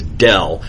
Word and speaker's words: del: is just semantics but the way we pronounce this symbol is del please don't stay gradient gradient is what you get